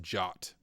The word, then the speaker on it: JWT: Json web tokens okay guys I recently learned JWT that's how I say it is pronounced jot does anyone in chat pronounce jwts as jots